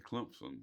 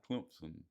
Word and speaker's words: Clemson: Clemson. Yeah, there's a P in there, sounds like, but if you look at the way it's spelled, not.